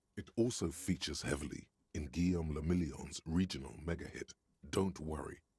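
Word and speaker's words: Guillaume Le Million: meant only one thing guillaume lamillion if it doesn't rhyme you're not pronouncing it right fair enough out of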